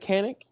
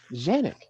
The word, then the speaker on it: Canik: has said, we understand that it looks like Canik. We can say Canik in the United States, but just know we're not taking anything away from the Turkish pronunciation, which is Janik.